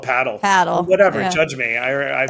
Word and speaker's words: Padel: Padel. Yes, padel. Someone corrected me. No, I'm just going to, like, back to your putting your bread underneath it. Yeah. It's called paddle.